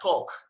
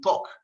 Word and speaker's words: talk: Just look at talk. We don't really pronounce the L. It just has to be talk.